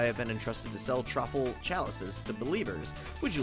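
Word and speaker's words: Troupple: of the trle king half trout and half Apple pronounced like mouthful so trul trle King he's one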